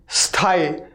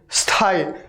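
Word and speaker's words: स्थायी: है, स है ना, तो पहले आप स बोलिए, स, लेकिन पूरा मत बोलिए। स जैसे आप बोलना स्टार्ट करें उसमें थाई जोड़ दीजिए, जैसे ऐसे स्थाई, स्थाई, स्थाई, स्थाई, स्थाई, हो गया।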